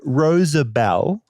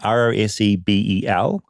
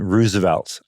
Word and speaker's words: Rosabel: The different spellings we got, Rosebel, Rosabell, Roseabelle, Rosablee, and my favorite one, which is very common, Roosevelt, Roosevelt. All those are incorrect. It is Rosabel, Rosabel, Rosabel, not President Roosevelt, which apparently every American